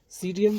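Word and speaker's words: Psidium: सीडियम गुआ जावा, गुआ जावा, सीडियम, यहाँ पे साइलेंट, सीडियम गुआ जावा, अमरूद।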